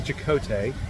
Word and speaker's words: Chakotay: Yeah, So it's actually Chakotay, but I am Shakate.